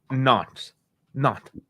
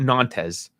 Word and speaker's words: Nantes: French is weird. You don't pronounce all the words. It's not. So it's not Nantes. It's no. So think about it. Think like you're deep throating something and you're trying to pronounce something. Like no.